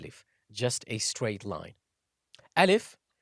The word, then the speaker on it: alif: just a straight line Al if it's like you're saying Al if Al if is pronounced from the empty space of the mouth and the throat there is really nothing